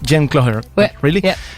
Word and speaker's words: Jen Cloher: It's correctly pronounced Jen Cloher.